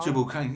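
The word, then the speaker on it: Tubal-cain: that how I should pronounce Tubal? Tubal Cain, yeah, sure.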